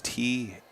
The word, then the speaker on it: Teutsch: It's spelled like you spelled, Deutsch, but with a T. So it is Teutsch.